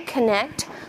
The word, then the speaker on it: connect: And we'll put a double underline under the first N to show that it is silent. Right? Because when we say connect, we only say the N sound twice, right?